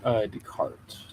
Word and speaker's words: Descartes: Oh, so the S is silent.